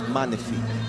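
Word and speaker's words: magnifique: Cuz we when the G and the N are together, we don't pronounce the G. So it's it's like a N. It's manif.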